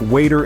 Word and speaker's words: water: Consider water and butter. In the American accent, the T in water and the T in butter are pronounced like a soft D. So it sounds like waiter and butter.